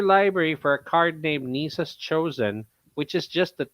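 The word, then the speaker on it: Nissa: But okay, they never really clarified how to pronounce her last name, but it's just Nisa.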